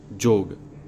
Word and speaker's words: योग: अतः यहाँ योग बोला जाएगा जोग, किंतु योग नहीं।